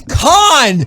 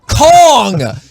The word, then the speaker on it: Khan: the name king kong it's not no it's khan not kong you're saying it wrong but you know what